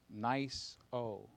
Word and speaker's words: NISO: I like that NISO is pronounced nice-o.